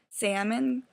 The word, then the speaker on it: salmon: Salmon, because there's that silent L in there, but some people, like, try to pronounce the L.